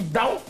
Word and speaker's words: Tao: de chemin, parce que prononcer en chinois, en mandarin, on dit dao, dao, dao, ting, tao, tong, dao. Mais en français, on dit Tao.